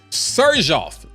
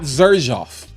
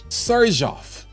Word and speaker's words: Xerjoff: We're going to be talking about Sergeof, not zerof. Serjof. I know a lot of times we just been pronouncing it like that X is like xylophone, but I remember um